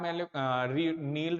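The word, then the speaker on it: Nile: अगर आप नील रिवर या नाइल रिवर जैसा भी आप प्रोनाउंस करें, अगर आप इसका ओरिजिन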